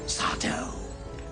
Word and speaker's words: Sardo: They call me Sardo. No, mister. Accent on the dough.